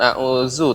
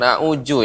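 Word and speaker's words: أعوذ: Ya, Fauzi, ini berbeda lagi, bukan a'udzu tapi a'uju. Ya, bukan a'uju ya. Bukan huruf jim, tapi za. A'udzu, za.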